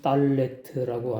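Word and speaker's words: דלת: 우리나라 한글 기역자처럼 쓰고 발음은 딸네트라고 하는데 오른쪽에 강음점 이중점이 있죠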